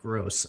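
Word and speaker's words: Groß: Oh, you pronounce Grobe like gross.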